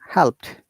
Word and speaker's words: helped: Past participle, Remember that many of our learners have difficulties pronouncing these two verbs in past tense. I have heard that they're saying asked. No, it is asked. Helped. No, it is helped.